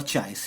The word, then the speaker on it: chi: Magnetic susceptibility, which is actually shown by this Greek letter, that is chi और chai, chi, chai और chi, जो भी pronounce कर सकते हैं आप करें.